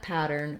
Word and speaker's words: pattern: word looking at pattern we have first syllable stress so the pa syllable is long i've put the letter d in this first syllable because you can think about the word pad and it's going to help you get that vowel sound the vowel is well ah like in pad or pat or cat or back